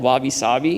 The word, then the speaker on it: wabi-sabi: Ross taught me something, the Japanese aesthetic called wabi-sabi, I think is how you say it, but it's imperfect, impermanent, and incomplete.